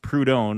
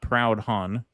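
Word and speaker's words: Proudhon: Katon, it is pronounced Prudon, not Proud Hun.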